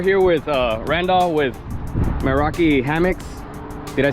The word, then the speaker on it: Meraki: guys so we're here with uh Randall with Meraki hammocks did I say it right you did Meraki Hammond Meraki hammock so uh basically it's a